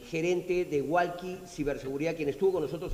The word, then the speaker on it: Wallqi: Ahí me encantaría invitarlos a visitar nuestra página walki.pe. Walki se escribe WALLQI.pe.